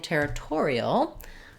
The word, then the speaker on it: territorial: Territorial, we have the same sounds, but we change our stress to the tor. So when I'm saying territorial, let's show you that. We still have the ter, but now the tor is stressed, and we add the ul. So the ial, we just have our same e like in territory, and we add that dark syllabic l.